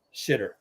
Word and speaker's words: Xitter: Xitter, pronounced shitter.